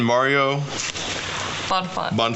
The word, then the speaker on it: Bonfante: Mario? Bonfante.